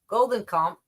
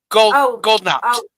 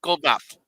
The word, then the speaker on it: Goldknopf: Housing Minister, God help me, Goldenkamp, not right. Where you at? Goldknopf. Goldknopf. Yeah. The K is silent.